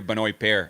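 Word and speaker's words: Benoît Paire: of what he's saying when I when I hear binoy pair in his ATP ATP page I hear binoy pair apparently LSB hears but Benoit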